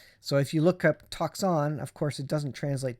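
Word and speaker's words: τόξον: look at this uh uh talks on it's pronounced talks on so again um it says uh see that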